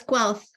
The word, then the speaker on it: Guelph: the University of, I'm not sure how to pronounce that word. Is it Guelph Creative Writing MFA? It's close, Guelph.